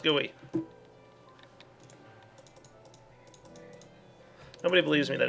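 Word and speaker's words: GUI: I like a huge gooey and yes it's pronounced gooey nobody believes me that it's pronounced gooey all right guys my modular cart is complete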